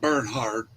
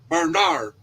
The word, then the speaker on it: Bernard: Bernard, not Bernhard. Bernard. Bernard, yeah, Bernard.